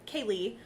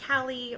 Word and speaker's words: Kaylee: out my name I'm Kaylee I you know write it normal but I put in parenthesis pronounce ka Y - le e yeah because just I know that they're gonna pronounce it Callie or something yeah yeah